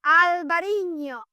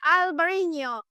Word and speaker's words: Albariño: in the North American market making the people pronounce Albariño, first of all, because it's Albariño. So I made a reel about every market trying to pronounce Albariño. It's Albariño.